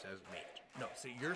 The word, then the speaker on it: N8: Yes, but it's pronounced the same. So there are 2 people who pronounce their first names as Nate.